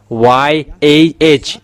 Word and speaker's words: Yah: read it together, the result is y a h it's y. So if we read it, it's yah. Oh, it becomes redder. That's it. Have this. Yeah. How to read it. Yah is the way how to read it. So remember it well. When you say this y and hey, it's yeah how to read it. You don't go far away. You say yeah.